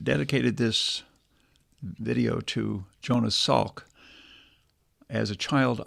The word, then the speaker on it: Salk: this video to Jonas Salk as a child I received a Salk polio vaccine or maybe I should say sock I think that's how it's pronounced and then later I